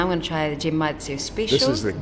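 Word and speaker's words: genmaicha: going to try the gym Matsu special it's pronounced with a hard G it's from Japan from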